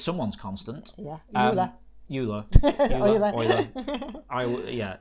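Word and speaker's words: Euler: um there we go k saying it's pronounced oil Okay so um I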